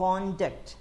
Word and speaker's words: conduct: ഇതുപോലെ തന്നെയാണ് CONDUCT, കോണ്ടാക്ട് എന്നുള്ള കോണ്ടാക്ട് സർട്ടിഫിക്കറ്റ്, സ്വഭാവ സർട്ടിഫിക്കറ്റ്. കണ്ടക്ട് എ പ്രോഗ്രാം എന്നുള്ളത് വേർബ് ഫോമാണ്. ഇതുപോലെ സ്ട്രെസ്സുകൾ മാറിക്കൊണ്ടിരിക്കും.